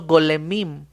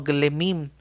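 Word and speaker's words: גולמים: hebreo se llama golem, hizo golemim, o glemim sería la pronunciación.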